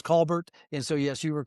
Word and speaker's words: Colbert: He says Coair down in Oklahoma. It's Colbert.